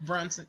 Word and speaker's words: Brunson: Quinta Brunson, right? Is that how you pronounce her last name? Quinta Brunson. Yes. Brunson.